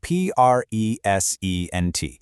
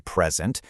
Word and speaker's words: present: If I give you a birthday present, see how the stress is on that first syllable. But if I stand up to present my findings in a meeting, the stress moves to the second syllable. That tiny little shift in emphasis completely changes the word from a thing to an action, from a noun to a verb.